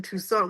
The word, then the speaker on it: Toussaint: respect on the name Toussaint. We're talking Haitian Revolution. Toussaint. I mean, anyway, Toussaint. Lorraine Toussaint. I thought that was more French. Rhymes with croissant. It's more like Croissant. French Creole, Yeah.